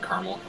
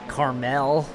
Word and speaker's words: Carmel: to the one in Caramel okay it's funny how people not from Indiana can't pronounce that they call it Carmel maybe you ever noticed